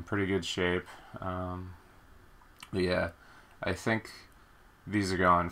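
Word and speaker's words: Ys: nepotism sorry about my hand uh some people pronounce it wise uh I'm pretty sure it's pronounced ye um it's just a PSP game um It's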